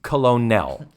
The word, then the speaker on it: colonel: Well, it's it's colonel.